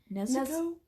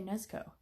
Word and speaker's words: Nezuko: Nezuko? I think when it's pronounced, the U is silent, but okay. We're still having problems pronouncing it. Okay, Nezuko.